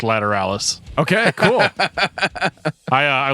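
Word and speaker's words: Lateralus: comments about tool uh the album is pronounced lateralis okay cool i uh i looked up a youtube video of the band talking about it it's called ladder alice so dan is right yeah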